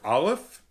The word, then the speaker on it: Aleph: by Meg and Peter Aleph. Aleph, what do you think? Aleph? Yeah. And see, it is a bit of an abstract. Feel free to correct us if we're mispronouncing a name. It's Aleff.